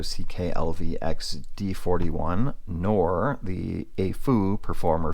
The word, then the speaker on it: AFUL: lvx d41 nor the AFU performer 5 and AAU is the way you're supposed to pronounce it thanks to my friend